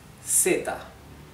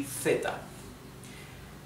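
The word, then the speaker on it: zeta: of Spain in Europe, this would be theta like the th in English theta th right.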